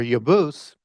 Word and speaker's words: Jebus: So Jebos uh or Yabus as it would have been pronounced with the J being a Y would be the patriarch for the Jebusites and so on and so forth.